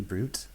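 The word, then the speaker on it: bruit: I learned how to say the word B-R-U-I-T, brute, and that Night Slasher is a palette and a game.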